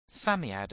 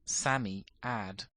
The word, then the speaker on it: Psammead: It told the children, whose names were Cyril, Robert, Anthea, and Jane, that it was a Psammead, or sand fairy. Psammead is pronounced Sammy-ad.